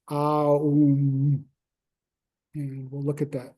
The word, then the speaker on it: Om: And we say Om, but it's actually Aum.